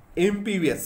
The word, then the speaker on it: impervious: कौन सा वर्ड है, एमपीवीएस होता है, एमपीवीएस, रे साइलेंट होता है, इसको एमपीवीएस बोलते हैं, IMPERVIOUS, एमपीवीएस वर्ड होता है।